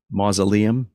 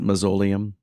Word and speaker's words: mausoleum: radio that um uh the word uh is pronounced uh mausoleum not mausoleum so lots of mistakes that have stuck with